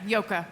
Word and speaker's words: Joke: okay you did yeah it's spelled j o k which was a difficult name to immigrate to the United States with but uh it's a very Dutch name yeah yoka I have to credit